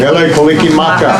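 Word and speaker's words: Mele Kalikimaka: Mele Kaliki Maka.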